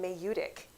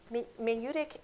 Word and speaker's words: maieutic: And the word of that day was a word called Mayutic. And I'd never heard it before. It's spelled Maieutic, I believe. Greek, I want to say, and I was like, ooh, what does that mean?